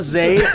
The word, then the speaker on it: Zayd: Zayd. Zayd. Only in the building. Southern all of a sudden. It's Zayd. O-J-A.